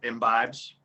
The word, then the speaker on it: imbibes: vibes because thanks said it again takes in imbibes yeah i'm feeling imbues but it's in vibes